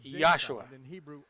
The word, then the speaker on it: Yahshua: Eu pronuncio o nome de nosso Messias claramente como Yahshua. Não há J em hebraico ou grego, e Jesus não tem significado nenhum em hebraico.